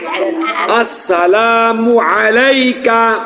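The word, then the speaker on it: السلام عليك: আসসালামু আলাইকা আইন উচ্চারণ করতে হবে আসসালামু আলাইকা আসসালামু আলাইকা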